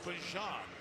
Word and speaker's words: Bijan: was a story in an interview that it's Bijan, and that's the way his mom and his grandma like it pronounced.